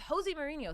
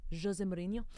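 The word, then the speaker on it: José Mourinho: let's start with Jose Mourinho. Sorry, it's pronounced Jose Mourinho. Jose. I'm not Jose. I'm Jose.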